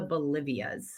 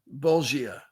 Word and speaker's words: bolgia: And I wrote, so why are they called the Bolivias? Bolgia.